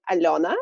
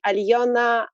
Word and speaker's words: Alona: because for foreign it's difficult to pronounce like alona in russian way usually they say alliana alona alana so i said okay you